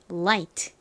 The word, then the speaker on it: light: 될까요 빛 그리고 가벼운이라는 의미를 가지고 있는 단어이자 발음은가 it 소리가 나고은을 소리가 나니까 light 되죠 light 다음 단어도 한국식으로 는 방금 전에